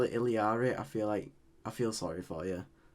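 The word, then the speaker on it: Illari: It's pronounced Iliari, but would you rather call it Alari or Iliari? Ilari.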